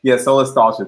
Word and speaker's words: Solastalgia: Actually, I can check right here, but yeah, Solastalgia. There we go. I wanted to make sure I wasn't pronouncing that wrong.